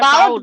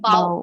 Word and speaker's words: bow: Noun जब होता है ये तो बोलते हैं बो, Bow. जब ये वर्ब बन जाता है तो बोलते हैं बाओ.